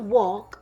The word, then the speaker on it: walk: The W sounds like a W. The L sounds like a L. The K sounds like a K. But that A, when I say the word walk, the A sounds like an O. That A is trying to trick you.